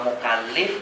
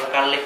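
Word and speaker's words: مُكَلِّف: Kita membacakan beda harokat A sama I saja pada lamnya, itu maknanya berbeda. Jadi kalau bacanya mukallaf, itu berarti orangnya yang diberi beban. Kalau mukallif berarti orangnya yang memberi beban.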